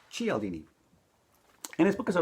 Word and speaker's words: Cialdini: psychology of persuasion by Robert B tchy aldini not Chiellini not CL DD g LD me I had read one of those books earlier and I think I butchered his last name but it's G aldini and his book has